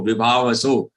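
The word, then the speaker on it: विभावसौ: Again, it is sau and not so. Vibhavasau. It is vibhavasau.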